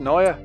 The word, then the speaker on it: Naja: Apparently it's pronounced Naya.